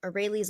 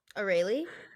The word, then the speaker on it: Aurelie: Aurelie? I say orally, like Aurora, Oh, like Aurora, but orally?